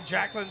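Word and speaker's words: Jakllon: there by that Jacqueline I want to make sure I say it right it's j-a-k-l-l-o-n we're gonna say Jacqueline Thomas Thomas with the run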